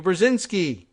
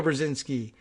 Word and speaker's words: Brzezinski: Kissinger made a personal appeal to the national security adviser Zbigniew Brzezinski thankfully we actually know how to pronounce his name and a follow-up phone call to mr.